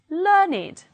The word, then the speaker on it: learned: If they are adjectives, they do not follow the rule and they will be pronounced with id, it. Let's read it as adjectives. Aged, blessed, crooked, dogged, learned, naked, ragged, wicked, and wretched.